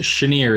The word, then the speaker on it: Shanir: It's pronounced Shanir. It's Hebrew. Near.